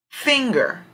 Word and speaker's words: finger: Finger, finger. Strong syllable would come over fing.